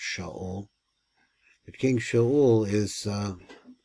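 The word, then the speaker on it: שָׁאוּל: the King King Saul which in Hebrew is pronounced sha that King sha is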